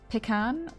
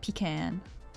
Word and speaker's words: pecan: let's take a look you pronounce it pecan I always pronounce it pecan yeah you can call